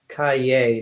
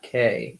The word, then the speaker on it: Kaye: Also, her name is pronounced Kaye, not K.